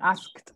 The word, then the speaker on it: asked: Cuidado con asked. Recuerda que la ed no se pronuncia.